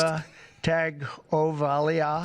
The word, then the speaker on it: Tagovailoa: Tua Tagovailoa. There's no N, but everybody says N, but there's no N.